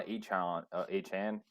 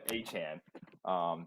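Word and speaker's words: Achane: There was Devon Achan. I think that's the new pronunciation he wants to go with. Yeah, Achan.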